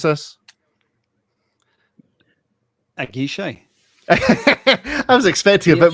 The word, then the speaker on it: Aguiche: Aguiche. I was expecting a bit more. I was expecting a more I've been to watch school flair than that. Aguiche.